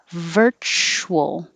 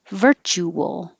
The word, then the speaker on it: virtual: then use voicing veil this one you can have two syllables or three syllables whichever one is easier for you they're both fine two syllables virtual three syllables virtual so virtual you're going to have to start rounding your lips while you're making the ch virtual virtual and this